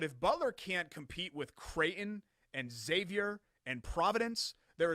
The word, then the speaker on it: Creighton: No, you're saying it like Crayola. It's Creighton. I'm saying it correctly. The school in Omaha, Nebraska. Creighton. How'd you say it? Creighton. There's 2 syllables there. Creighton.